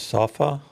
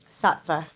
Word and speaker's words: Sattva: Safa. Satva. How you spell that?